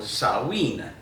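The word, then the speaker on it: Samhain: the end of October it's called saen and I'll spell it and in a crawl one here because it's it it doesn't look like how it sounds so saen is one of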